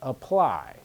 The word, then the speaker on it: apply: that one out longer for the second word the stress is on the second syllable apply the A and apply is just uh the A and apple is ah so when we have